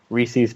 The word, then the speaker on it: Reese's: if you say the words or the phrase Reese's Pieces you're an asshole. in a fiery pit in hell. Why? What else would you call it? It's Reese's Pieces. It's Oh my Reese's God.